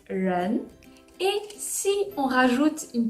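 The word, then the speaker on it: 人: j'avais calligraphié le caractère individus hommes qui se prononce lan et si on rajoute une petite barre horizontale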